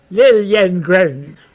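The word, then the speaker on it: Liljengren: their last name was Lilliengren. That's funny. Lilliengren? Yeah, because it was spelled with a J, and that's how it was pronounced, a Y in Swedish.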